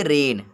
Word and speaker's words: reign: यहाँ इसको हम पढ़ेंगे रेन, रेगन नहीं पढ़ेंगे, रेन पढ़ेंगे।